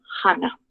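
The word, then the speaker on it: 하나: A ver, de lo que es el 1, Hana, así con J, Hana, Hana, Tul, aquí lo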